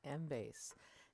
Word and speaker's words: Embase: library and today i'm going to talk about mbase mbase is spelled e-m-b-a-s-e and is one of our more